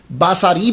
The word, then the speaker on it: बसरी: माना होगा मेरी आंख बसर कहते हैं आंख को और बसरी मेरी आंख तो हजरत राबिया बसरी रहमतुल्ला अलहा जो है व इसे प्रोनाउंस किया जाएगा नाम के बारे में